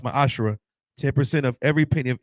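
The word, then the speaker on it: מעשר: Malachi 38-10 means 10th in the Hebrew it's pronounced my ashra 10% of every penny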